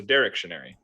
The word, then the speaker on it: Directionary: got it okay so directionary right the emphasis is on the first syllable derectionary yeah got it